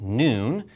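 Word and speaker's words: نون: the alphabet down okay this letter is called noon and that's the name of the letter you don't pronounce it that way like we say W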